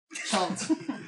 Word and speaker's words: Chult: Okay, yeah, so you were saying we're going to Chult. The name of the peninsula is Chult. Chult. Is there another Like name? bolts. Oh, like bolt, like it rhymes with bolt. Chult as in bolt.